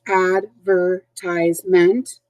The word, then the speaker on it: advertisement: see it is forc advertisement and that the emphasis is on the third syllable ties an advertisement is